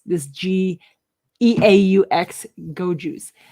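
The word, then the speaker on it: Geaux: they have a little in hyphens how you pronounce this g-e-a-u-x go juice it's an ipa mary brewing company berry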